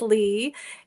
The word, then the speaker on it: Lea: My name is Lea. It's spelt funny, but it's pronounced Lee.